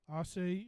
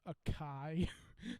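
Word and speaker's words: açaí: it's a asea grape assay acai i just learned how to pronounce that word like or that i was saying it wrong for a long time i thought it was a kai i feel like a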